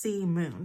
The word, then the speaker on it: Simone: I think the first one that I'm going to do is, we did Troublemaker Simone, Sea Moon. I actually looked it up and it's pronounced Sea Moon.